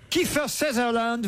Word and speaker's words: Kiefer Sutherland: Kiefer Sutherland, Ah, c'est comme ça qu'on prononce.